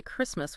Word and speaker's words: Christmas: Like Oprah might ask, how does learning the difference between this and that or remembering to say Christmas without the T, how does mastering that small detail multiplied by thousands of other small details?